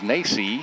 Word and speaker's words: Nace: Apparently I've been mispronouncing that name. It is Nace.